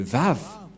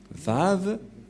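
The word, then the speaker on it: וָו: Comment on a prononcé la lettre V? Et nous allons voir la prononciation de la lettre V, c'est comme ça. Voilà le Vav. Vav ou W-A-W.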